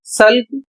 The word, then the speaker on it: sulk: अगला शब्द है SULK और इसका उच्चारण होगा सल्क, इसकी हिंदी होती है रूठना।